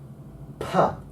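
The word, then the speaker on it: π: This is hand in front of the mouth. Pa. Pa. As in pat.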